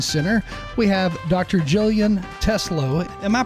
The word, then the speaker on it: Teslow: Jillian Teslo. Am I pronouncing your name correctly?